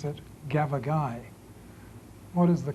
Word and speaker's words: gavagai: Gavagai, yes, stress on the last syllable.